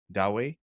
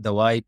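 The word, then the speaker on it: Dawaai: I'd just like to correct your pronunciation of those names. That's Mizan Bank, Dawai, Crave Mart, Genie AI, and yeah.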